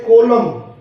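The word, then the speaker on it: column: इसी तरह से कोलम, इसमें N साइलेंट रहेगा, कोलम बोलेंगे इसे।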